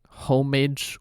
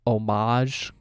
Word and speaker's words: homage: homage because it's like aren't the two pronunciations either homage or omage so he kind of just combined them for third pronunciation goodbye forever Shadow the